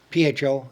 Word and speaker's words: pho: PHO, it's pronounced pho.